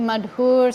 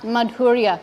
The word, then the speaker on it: Madhur: Sripad Madhur, Maharaj. Just yesterday, Goswami Maharaj was telling me, he said his name is Madhur, not Madhurya, because that second name should have 2 syllables.